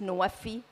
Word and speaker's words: NWFE: And since we're in a COP of implementation, going from pledges to implementation, nexus of water, food, and energy, NWFE is pronounced NWFI.